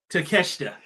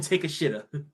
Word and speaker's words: Takeshita: I almost said it the wrong way. Takeshita. People call him Take a Shitta. Right? Because that's how it's spelled.